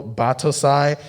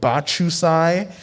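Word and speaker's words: Battousai: kenshi or uh humanoid kenshin you know batosai and they're like butchered like bachusai or there's the character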